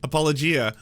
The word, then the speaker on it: apologia: formal written defense that's the exact opposite appal apologia you are looking at Julian's pronunciation guide where we look at how to